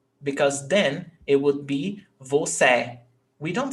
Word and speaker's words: você: And then here, we've got the last syllable stressed.